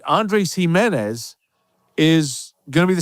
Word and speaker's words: Gimenez: And I'm very excited to bring you this all Himenez show, even though it's not spelled the same for all three of them, but Andre, Lao, and Aloy join me this week.